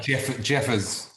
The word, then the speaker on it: Jeffers: Is that the correct pronunciation? Am I saying it right? Jeffers. Jeffers, it's easy.